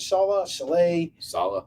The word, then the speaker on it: Saleh: Saleh.